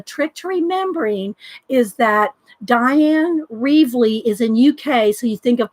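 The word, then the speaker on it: Dyan: how did she say does say it like Diane like princess die that's how I can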